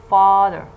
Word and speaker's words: father: Okay, so when we say father, father, father, you see that the first syllable is the strong syllable. The first syllable is the stressed syllable because it contains a strong vowel.